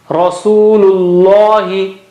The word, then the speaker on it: Rasulullahi: Ra is thick here. Rasulullahi, Rasulullahi, Rasulullahi, Rasulullahi. Okay, first lam is not thick. Rasulullahi.